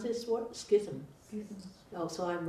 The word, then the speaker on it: schism: And so Devadatta was actually the first one who actually created the how do you pronounce this word? Schism.